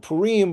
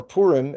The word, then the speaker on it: Purim: Now, Purim or Purim, as most of our listeners are probably used to hearing it pronounced, was very interesting this year because Purim came out Thursday night.